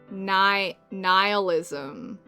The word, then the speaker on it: nihilism: Nihilism there. You just ignore the H entirely.